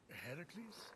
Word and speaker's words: Heracles: you doing there that thing with your voice heracles yeah that that is how it's supposed to be pronounced oh get a room foreign